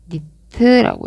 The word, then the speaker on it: nit: 그래서 사람 눈으로 가게 되는데 그게 바로 휘도고 단위는 니트라고 읽습니다.